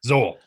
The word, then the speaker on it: Zoul: Zoul. Yeah. Rhymes with soul.